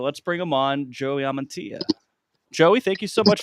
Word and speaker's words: Amantea: every time you three how do you think you pronounce my last name I right I thought it was ammania no no no I don't have a guess amantia amantia okay like I'm gonna do